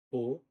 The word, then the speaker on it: peux: Je, je, po, sou como po, com um O fechado. O X é mudo.